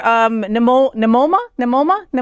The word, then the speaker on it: Nimona: Snub, LGBTQ or queer, Nimona.